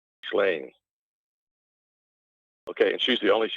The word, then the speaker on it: Ghislaine: French G in front of a vowel or in front of an H is a soft G, not a hard G. Ghislaine.